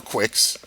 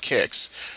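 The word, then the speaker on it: Qix: Are you experienced kicks or quicks? Either way. I mean, I'm looking at the Wikipedia page and they say it's pronounced kicks.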